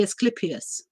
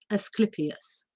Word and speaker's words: Asclepius: can pronounce it but i'm going to pronounce it the roman way the greek god um is not pronounceable in english let's put it this way that's why um it's written in in in the roman version which would be asclepius as clippies but um you can